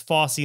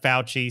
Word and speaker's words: Fossey: And that's Fossey, not Fauci, same spelling. We pronounce it differently.